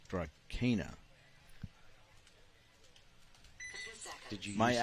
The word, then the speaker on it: Drakaina: It's Drakaina.